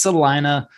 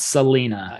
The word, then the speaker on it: Celina: yang of celina texas and it is celina not selena and if you're a real estate agent you should say it correctly as well all right so i